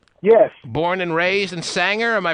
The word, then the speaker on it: Sanger: the Air Ken yes born and raised and Sanger am I pronouncing it right first of all correct sanir it's Sanger Middle School born and raised born and raised